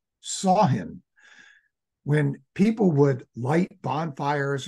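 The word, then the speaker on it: Samhain: ancient Celtic Festival and it looks like you should pronounce it somine but apparently it's pronounced saw him when people would light bonfires and they would wear costumes to ward off ghosts sain was a commemoration of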